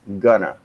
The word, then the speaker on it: gonna: than in formal writing in informal speaking it is sometimes pronounced gonna which in phonetics would be uh visualized as this gunner gonna is not